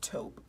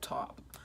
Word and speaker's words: taupe: is top to toe I always pronounce like every letter in words and people used to mean I'm wrong I think it's taupe but I used to call it top um that's kind of